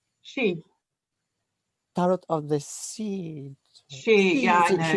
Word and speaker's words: Sidhe: She. Tarot of the Sea. Yeah, I know. It's Thank Gaelic. you. It's very odd, but it's pronounced she.